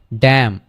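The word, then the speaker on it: damn: তাইলে খন্ডেম খন্ডেম খন্ডেম এরপরে আমরা আসি ডি এম এন তাহলে ড্যাম ড্যাম আমরা ড্যামেন কিন্তু বলি না কি বলি ড্যাম ড্যাম ডুড এরকম টাইপের এক্সপ্রেশনস আমরা দিয়ে থাকি তাহলে এটাই হবে হচ্ছে কি ড্যাম এনটা উচ্চারিত হবে না ড্যাম মানে অভিশাপ দেয়া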